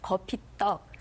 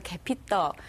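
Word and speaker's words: 거피떡: 소로 넣어서 만든 떡을 거피 떡 또는 거피 파떡 이렇게 얘기를 하죠 그 잘못 발음이 전달돼서 개피떡 또 개피떡 이렇게 고소해요 정말 약간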